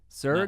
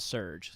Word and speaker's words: Serj: you say it sure I think it's ergh sir it's not surge ultras a surge sir sir sir I was like man